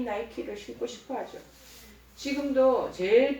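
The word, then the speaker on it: Nike: 청소년들도 다 이 나이키를 신고 싶어 하죠. 지금도 제일 비싼 신발 브랜드 이 나이키. 이 나이키는 헬라 니케의 영어식 발음이라는 거죠.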